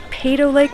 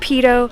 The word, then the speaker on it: Peyto Lake: I used to think it was called Peyto Lake, but apparently it's pronounced Peyto.